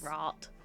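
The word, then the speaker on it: Raht: Is it Rat or Rat? Or I've never known how to say it. R-A-H-T. Rat? I think it's Rat.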